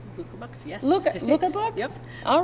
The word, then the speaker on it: Luca Books: this morning, and this is Bree Terrelson from Books. Luca Books, yes. Luca Books? Yep. All right. I did not pronounce that right.